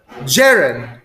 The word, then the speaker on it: gerund: G- sounds like the name of Jerry. Jerry. Gerund.